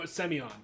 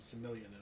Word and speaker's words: Semion: have trouble pronouncing it oh semion there it is that's i had to find the pronunciation for it wonderful oh i recognize that name yes i always i call them civilian and it's not how it's pronounced oh all right well